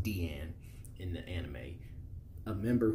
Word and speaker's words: Diane: asleep in the forest who introduces herself as Diane or well it's pronounced Deanne in the anime a member who is of